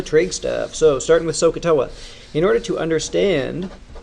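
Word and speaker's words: SOH CAH TOA: well for me because it's spelled so s oh ha you can hear the aah in there and TOA which is 0 then a now these are signed coast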